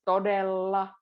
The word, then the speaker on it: todella: Todella, there's double L's, todella. Remember the two L's, so, and because it rhythmically goes as well.